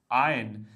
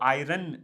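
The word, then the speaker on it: iron: Ahead 120थ आयन right इसमें are silent रहता है प्लीज ध्यान रखिएगा बहुत सारे सारे लोग इसको आयरन कहना शुरू कर देते हैं। तो ये आयरन नहीं होगा। यहां पर इसकी प्रोनाउंसिएशन होगी आयरन।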